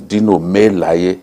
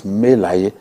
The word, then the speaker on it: Dino Melaye: The right pronunciation for his name is Dino Melaye. I don't own the word. Wow. That's what it means. in our language. Right. You know, what people say, Senator Dino Melaye. There's no such thing as Melaye. It's Melaye.